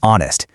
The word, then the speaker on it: honest: that just like our, this word operates on the exact same silent H rule. It is not honest. That H is completely silent. You just start right on the O, making it honest.